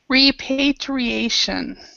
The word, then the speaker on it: repatriation: rep we we say we pronounce we stress this one so it's a re repatriation repatriation repatriation okay so what does